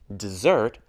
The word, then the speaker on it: dessert: class Miss guess necessary there are a few exceptions for example dessert has the sound Z listen to these sentences